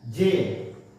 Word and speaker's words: zein: मक्के के प्रोटीन को, अब प्रोनाउंसिएशन की बात है, ZEIN, जेन, या मान लीजिए मक्के के प्रोटीन को जेन, ठीक है, कहा जाता है।